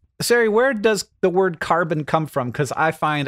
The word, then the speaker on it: carbone: have been pronounced i'm sure that's how they pronounce it yeah carbon with the emphasis on the bone uh which